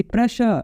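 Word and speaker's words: pressure: नाउ सी प्रेशर SS है लेकिन SH, ठीक है।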